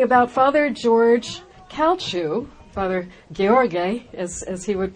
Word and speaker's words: Gheorghe: Today we're going to be talking about Father Gheorghe Calciu, Father Gheorghe, as he would pronounce it.